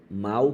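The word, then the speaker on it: mau: O mal com U, cara, ele tem a mesma pronúncia que o mal com L, de tão fraco que ele é.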